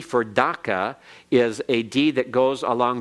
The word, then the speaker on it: Dhaka: British always said that the capital city was daca and they spelled it DAC CA there is no equivalent of C in the Bengali language out of its hundred and forty-two characters there is no C and it is a form of a K and there is no such thing as an ah sound in Bengali and so it should be Dhaka in fact it Bengali